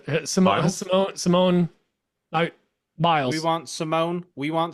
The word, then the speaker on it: Simone Biles: don't you dare disrespect No, Simone Simone Giles. Simone Biles.